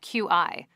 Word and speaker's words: Qi: So for our listeners that don't know, what exactly is Qi? And I should add that this is spelled Q-I. Correct. It would be so much easier if they spelled it C-H-I.